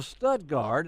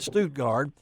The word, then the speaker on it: Stuttgart: The man himself, the world champion duck caller from Stuttgart. I did see on TV that they did call it Stuttgart, but we know it's Stuttgart here in Arkansas and in the Mid-South.